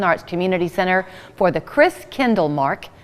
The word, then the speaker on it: Christkindlmarkt: Community Center for the Chris Kindle Mark did that say it right you did yay I looked at Robert Davis because as I said it I thought oh no is it marked or market so good to see